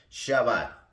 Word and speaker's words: Shabbat: el cual tiene un nombre propio se llama shabat y se escribe ese h a b b a t